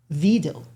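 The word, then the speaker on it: Wedel: It's called, that is pronounced Vidal because it's Polish.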